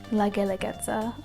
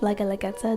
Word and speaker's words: Guelaguetza: But when the Spanish came, when colonization occurred, the Spanish called it La Guelaguetza because it was easier to pronounce in Spanish, La Guelaguetza, than Gendeletza.